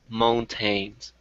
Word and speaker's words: mountain: And when you say the word mountain, it's pronounced mount. Mm. Mount. Mount. Yeah. Okay. That T actually kind of disappears and it just becomes that little stop, that mount.